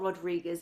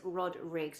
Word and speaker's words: Rodrigues: And you spell it like you would imagine it, with an S on the end. It's not Rodriguez, it's Rodrigues. It's Portuguese. It's the Portuguese translation.